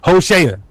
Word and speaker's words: Hosea: In the Hebrew, that's how you say Hosea in the Hebrew. Hosa.